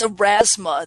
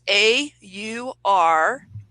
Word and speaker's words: Aurasma: So it's Aurasma. That's AURASMA.